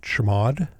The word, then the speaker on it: chmod: it executable by typing chmod or as we pronounce it chamod 75 5 5 which makes it editable and